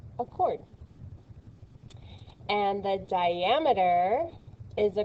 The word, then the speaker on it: chord: carefully this is pronounced chord so the ch doesn't make the ch sound it makes that sound so it's chord which is a segment